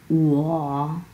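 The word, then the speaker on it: 我: সো আমি কথাটাকে আমরা চাইনিজ ভাষাতে বলি হচ্ছে উয়া উয়া উয়া, 3 নাম্বার টোন।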